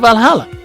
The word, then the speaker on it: VA-11 HALL-A: hotspot valhalla by mickey the name sounds silly and a bit hard to pronounce what maybe if you pronounce it va11 hell a a good thing it's actually called valhalla the funny numbers and